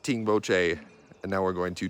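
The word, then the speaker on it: Tengboche: And they're kind of pronounced like the same way, like all the locals say it the same way, like Tingboche.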